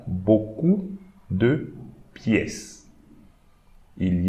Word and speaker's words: beaucoup: EAU, as we are going to read EAU like O, and we should not pronounce the P here as well as the S here.